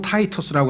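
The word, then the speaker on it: Titus: 년이 지난 후에 이 소위 말하면 로마의 영어로는 타이터스라고 하고요. 타이터스. 그다음에 이 라틴어로는 티토라고 하죠. 티토. 그렇죠? 티토라고도 하고 영어 발음으로는 타이트러스라고 하는 이 장군이 와서 예루살렘을 포위를 하게 됩니다.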